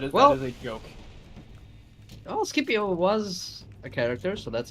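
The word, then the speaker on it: Scipio: MTH uh okay so it's not uh it's not skias it's skipio skipio africanos uh he was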